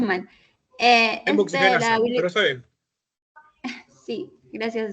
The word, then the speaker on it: hemooxigenasa: convierte en bilirrubina no conjugada a través del hemoxilasa. Perdón si lo pronuncié mal. Hemoxigenasa, pero está bien.